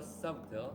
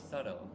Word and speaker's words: subtle: Another change was so subtle. The T is So, silent. No, no, the T is silent. Why do I say T? The B is silent. oh, subtle.